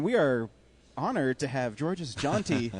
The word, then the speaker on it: Georges Jeanty: And we are honored to have George's Jeanty, correct? Is that how you pronounce it?